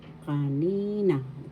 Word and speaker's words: kanina: second syllable that means kanina first syllable ka second syllable third syllable na kanina second syllable has the accent that means a while ago